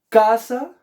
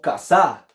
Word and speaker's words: casa: ¿Cómo se dice? ¿Casa o casá? No, pues casa, profe, ¿cierto? En este caso, K es la sílaba tónica, es decir, la sílaba de mayor fuerza.